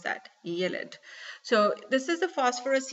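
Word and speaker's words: ylide: Okay, yes, pronounce that, yelid.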